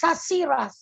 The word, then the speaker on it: Shashiraj: I think the pronounce is Shashiraj. Yeah, that's his. Shashiraj. Yeah. Shashiraj, Miss Nani, Shashiraj. Shashiraj, because the end is J.